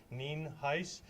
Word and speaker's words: Nienhuis: for your records um Hernando County Sheriff ninheis it's pronounced Neen heis and it is spelled n-i-e-n-h-u-i-s uh I do